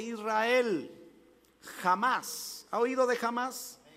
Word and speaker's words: Hamás: jamás ha oído de hamás pero con h no con jota y se pronuncia la h como jota jamás es volar a oído